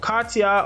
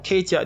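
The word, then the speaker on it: CATIA: released in 1972 and katya or katia depending how you want to pronounce it computer aided three-dimensional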